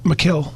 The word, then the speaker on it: Mikel: Like Robbie just said, why not lighten the load from Michael? I pronounce his first name wrong all the time. Is it Michael or Mike? Mikel. Mikel.